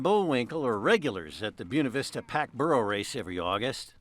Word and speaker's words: Buena Vista: it the right thing what is the right thing buav Vista not buav Vista sure coming up generations